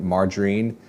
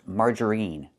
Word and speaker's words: margarine: The word is not pronounced margarine. It's not margarine. We don't use the long e sound like green beans. Margarine, we pronounce it margarine. We use the short i sound like this. Is in. I margarine. It's more open.